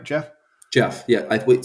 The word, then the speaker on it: Jeff: Jeff, yeah. Wait, say it one more time. Jeff. That was a little too soft. It's a little sharper of a J.